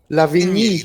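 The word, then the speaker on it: Lavigne: Lavini. The G silence. So it's Lavini. It's French.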